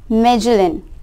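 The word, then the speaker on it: Magellan: Around 500 years ago Ferdinand मैगेलन, pronounce मेजलन, a Portuguese seller started his journey from Spain to study the shape of the earth.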